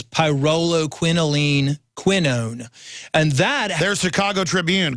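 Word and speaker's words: pyrroloquinoline quinone: is the biopqq and the way it's pronounced is pyo quinoline quinone and that there's Chicago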